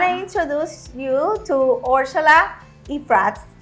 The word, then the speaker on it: Iafrate: so I want to introduce you to Ursula iprats right yes is that how you pronounce it yes I prayed it okay thank you Ursula please tell our listeners